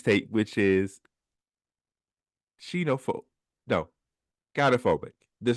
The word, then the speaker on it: gynophobia: No, gynophobia. There's like three different pronunciations for it.